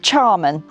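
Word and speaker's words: Tearmann: It's pronounced Charman, and it's Irish Gaelic, and it means sanctuary, place of refuge.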